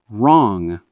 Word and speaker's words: wrong: W is silent, right, wrong, wrist.